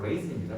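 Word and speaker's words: raisin: incident 사건인데 이거 레종 아니에요. 알겠죠? 레이슨입니다.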